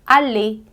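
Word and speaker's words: aller: introduzida aqui é que os verbos que terminam em er você vai dizer e e é um erro muito comum de quem tá começando querer dizer tituiê não você tem que dizer como se fosse um e acentuado e um verbo muito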